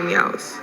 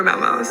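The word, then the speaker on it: Mau Mau: known as meow meows or mous depending on how you pronounce it Britain dubbed the ma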